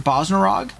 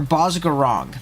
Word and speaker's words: Bozgarong: Is it Bosnarog? Or Bozgarong. There we go.